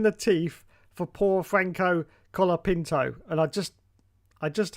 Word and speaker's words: Colapinto: you will see that his name says c o l o Pinto when it is actually Cola Cola Pinto if you say it like that colapinto anyway here's the problem